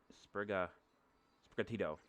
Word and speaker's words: Sprigatito: By the way, I'm probably going to pronounce my starter's name wrong, so Sprigato is what I'm calling it. Sprigatito.